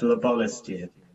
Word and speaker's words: Larbalestier: say it right again tell me how you pronounce it uh it's labolistic that's not a jersey